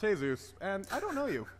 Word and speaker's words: Jesus: Isn't that right, Jesus? It's pronounced Jesus, and I don't know you.